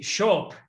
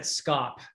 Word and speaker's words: scop: of people pronounce that scop uh but in the dialect of old english that belonged to wessex the sc would have been a a sh sound so uh what do